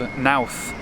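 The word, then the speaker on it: Knowth: to a tomb called nth which rhymes with South and it is 500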